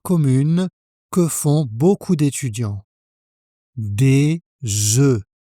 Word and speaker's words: des œufs: Des œufs. Au pluriel, le F ne se prononce pas, et le son voyelle est différent.